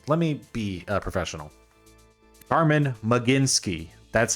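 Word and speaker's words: Carmen Mlodzinski: maybe I should let me be uh professional Carman mecinski that's how you pronounce that okay 398 ER for Carman mecinski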